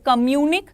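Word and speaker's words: communiqué: What is communic? देखिए, communicate is another thing. Communic. Now after E you won't pronounce the complete E because there is this symbol on top of it, right?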